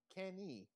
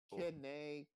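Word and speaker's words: Keine: Kenny. Oh, wait, no. It's Kenny? Yeah, Kenny. Kene. Oh my god. Kine. Kene. Yeah, that's better. Oh, it's like Kene.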